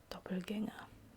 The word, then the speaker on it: Doppelgänger: So, Doppelgänger, which is a German word by the way, hence the proper pronunciation.